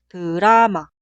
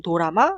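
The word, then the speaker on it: 드라마: La palabra drama se escribe así y se pronuncia drama, drama, drama. No se pronuncia u, tampoco se pronuncia o. Por ejemplo, drama es drama, no es dorama ni durama.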